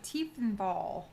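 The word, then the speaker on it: Tiefenthal: Taverns of Tiefethal.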